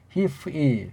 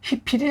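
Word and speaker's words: הפעיל: 발음은 정확하게 히프일. 그냥 히필이 아니에요. 히프일. 그게 그 나라 언어, 이 불완전 음절 언어에 대한 정확한 발음이 된다.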